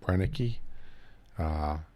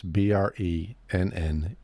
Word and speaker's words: Brenneke: If you're going to buy a gun, you want to get a 12 gauge pump, and you want to get the Bernanke Special Forces breaching round, and it has an alloy.